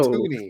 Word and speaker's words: toonie: yes, but also it's spelled TOO, like Looney Tunes. Yeah, And that's my because it was loon. no. Because we had loony, so you But just why not? swap out the L for the T because it It's wrong.